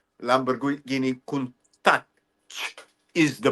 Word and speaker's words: Countach: be pronounced. Lamborghini Countach is the pronunciation.